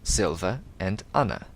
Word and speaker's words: Silviana: As for pronunciation, the apostrophe divides the word into sections, each of which is pronounced separately. For example, matriarch Silviana's name is divided into 2 parts, Silva and Anna.